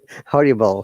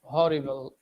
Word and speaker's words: horrible: h that is exceptional horrible horrible if you remove the h then it becomes audibles yes teacher so why we have to pronounce the h sound so it's horrible horrible teacher is it actually